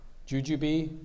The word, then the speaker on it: jujube: Are there any alternate pronunciations? Jujube, jujube.